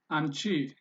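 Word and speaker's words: አንቺ: And anchi. How do you say that? Or how do you pronounce it? Anchi. Anchi. Anchi. The n is a little bit softened or shortened.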